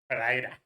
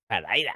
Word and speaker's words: Pereira: Hey, you didn't say Pereira like the Americans say it. Pereira. Pereira.